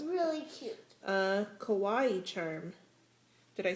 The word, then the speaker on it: kawaii: a Kawaii charm.